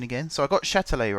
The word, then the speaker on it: Châtelet: Baptiste has corrected me on my French pronunciation again. So I got Châtelet right for the metro/RER station in Paris.